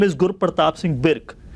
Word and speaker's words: Birk: His name is Gurpratap Singh Birk. So Birk is pronounced as B-I-R-K.